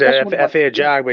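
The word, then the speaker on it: Efe Ajagba: God, how do you say his name? F.A. Ajabwa. Yeah, him. Jaguar, yeah. It's F.A. Jaguar.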